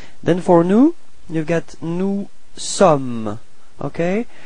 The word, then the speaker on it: sommes: Then for nous, you've got nous sommes. Okay, final S is not pronounced. Nous sommes. Repeat.